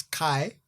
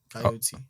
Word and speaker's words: Kyeot: So it's phonetic, right? Straight the way it looks. So obviously the T doesn't imply that, but it's Kai. Yeah. Because it's spelled KYEOT. So KYE Kai. Yeah. And then OT. Coyote. O-T. Like the animal, yeah. Coyote. Okay. Coyote, like the wild coyote or whatever.